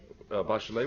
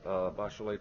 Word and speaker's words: Bachelet: And if those of you who are curious about the correct pronunciation, Michelle Bachelet prefers the French pronunciation because that's the way her father pronounced it.